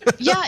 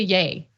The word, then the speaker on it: Ye: think about it but it's just Kanye shortened to yay Kanye short ta that's how gotta remember except I hate calling him yay like it's Kanye okay